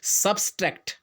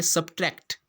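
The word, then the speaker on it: subtract: Similarly अब देखिए आप सब्सट्रैक्ट, ठीक है ना, एक वर्ड है जब हम मैथमेटिक्स में करते हैं सब्सट्रैक्ट, जबकि वो होता क्या है? सब्ट्रैक्ट।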